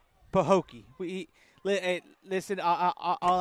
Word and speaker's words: Pahokee: we we know how to say it it's pooki pooki I got it I said it right